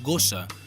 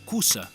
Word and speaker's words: gossa: La forma cània va desaparèixer ja fa molt de temps i avui es diu en general gossa, que podeu pronunciar gussa si voleu o cussa, com els mallorquins.